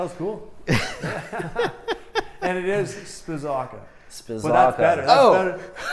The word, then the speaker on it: Spizawka: Spizawka. I was saying it wrong. Spizawka.